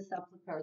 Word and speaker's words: sepulcher: The Bible says she stood outside the sepulcher. Then the sepulcher, that's a three-syllable word.